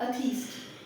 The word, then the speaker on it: atheist: हाउ डू you pronounce it? अथीस्ट.